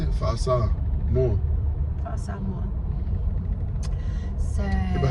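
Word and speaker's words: Fa'asāmoa: Fa'asa. More.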